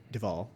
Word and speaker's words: Duvall: Robert Duvall as Rex. He's the dad. I think it's pronounced Duval. Duvall. Oh, okay. Duvet, like that.